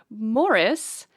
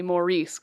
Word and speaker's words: Maurice: every time I say Maurice cuz I going to get slapped today was call it moris it's spelled mauce though otherwise it's it's Morris Morris Morris I've had to put